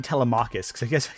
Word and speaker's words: Telemachus: I keep saying Telemachus, because whenever I read the Odyssey, that's how I read his name. Oh, Telemachus. Like, no, Telemachus, I'm realizing it's actually pronounced.